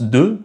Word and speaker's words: deux: Par exemple ce mot-là quand il est tout seul on le prononce deux, le X se prononce pas et ce mot-là c'est ami.